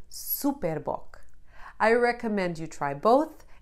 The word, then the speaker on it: Super Bock: and sage notice how super bok even though it's a brand written in english it is pronounced the portuguese way superbok i recommend you try